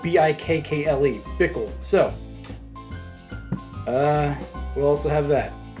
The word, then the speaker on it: Bikkle: It's spelled B-I-K-K-L-E. Bikkle.